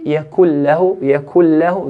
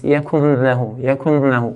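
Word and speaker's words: لم يكن له: So if I say yakul lahu, there's no ghunna. If I make a ghunna, it will be like this. Yakun lahu. We don't want that ghunna.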